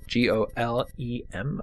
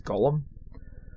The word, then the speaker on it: golem: G-O-L-E-M, I believe it is. Golem. I guess Golem instead of Gollum.